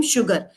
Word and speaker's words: sugar: So if you look at all of that, the origin is the Arabic word sukkar, from which it became sugar. So that's why here SU has sh sound.